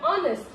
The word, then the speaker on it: honest: So here also the word honest. So here H is silent.